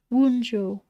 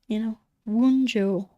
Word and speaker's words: Wunjo: And then we do have one final card, which is Wunjo in the northeast.